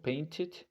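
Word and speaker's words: painted: verlo de esa forma Entonces al pronunciar ID en este caso paintit podemos ver la diferencia del pasado pero si por ejemplo puedes recordarlo así o si no como te digo mientras la palabra antes de si la palabra antes de ede tiene una t o en el caso de que sea una de debemos pronunciar Ed entonces Ok en realidad se pronunciaría ID Ok entonces continuamos en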